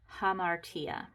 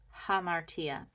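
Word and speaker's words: ἁμαρτία: rough that means it has an H sound so this is not uh it's ha hamartia hamartia means sin so hamartia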